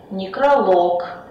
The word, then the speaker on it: некролог: В неодушевленных существительных мужского рода, который заканчивается на лог, ударение всегда будет падать на последний слог. Например, монолог, каталог, некролог, диалог.